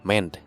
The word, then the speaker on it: MEND: Dibacanya MEND aja ya.